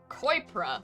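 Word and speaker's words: Coirpre: well let's save koipra koipra that's how you pronounce it okay i've seen a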